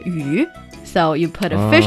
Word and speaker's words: 鱼: And people would serve fish as a dish on the, I don't know, New Year dinner table because fish also is pronounced 鱼.